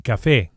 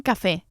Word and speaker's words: café: A coffee is un café. Un café. And we emphasize the e vowel on account of the accent, which indicates the stress, the strong syllable, un café, and not café.